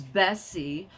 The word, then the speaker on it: Bessie: Her name is Bessie, which rhymes with Jesse, which is the name that my dad calls me.